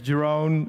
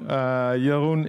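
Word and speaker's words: Jeroen: who am i so my name is jerome jorun is the dutch pronunciation i listen to everything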